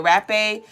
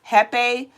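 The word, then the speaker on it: rapé: some people call it rape some people call it heepe but it is a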